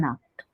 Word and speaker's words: Nacht: For pronunciation, I have written NAKT, like pronounce, how to pronounce.